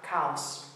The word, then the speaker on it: caos: Caos. Let's look at the previous thing about rhythm. Ends in an S, beat on the last but one syllable, ca, caos.